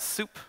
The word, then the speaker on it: sup: just do su pee I like to pronounce that soup and I always think